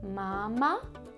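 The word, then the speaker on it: mamá: an accent at the end so instead of Mama it's mama can you say it Mama M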